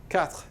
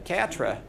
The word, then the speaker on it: quatre: And you just kind of do the TR at the end of it. You don't actually say this little vowel. Unless you're an American learning, then you do it all the time.